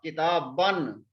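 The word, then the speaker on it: كتابًا: We don't pronounce this alif. We only write this alif. But we don't pronounce this alif. We will pronounce ba. The tanween is on ba. Kitaban.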